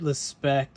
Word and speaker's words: Lespect: this is a David respect folder I pronounce it that way because he is from France he's been making knives since 2005.